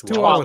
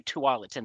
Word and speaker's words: Tualatin: And I'm not always sure how to pronounce this one either. It's Tualatin. Tualatin.